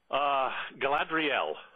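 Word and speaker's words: Galadrielle: How do you pronounce her name? Galadriel.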